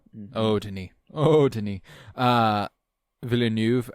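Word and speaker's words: Villeneuve: Uh Villanuv, I feel like is actually how you pronounce his name. I I I I remember hearing people at the Oscars saying Villanuv and I was like, "Oh, Villain."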